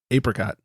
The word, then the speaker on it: apricot: Can I just say that Apricot. we never came back to that? Apricot won. Hard A.